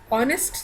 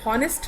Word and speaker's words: honest: The letter H is silent in this.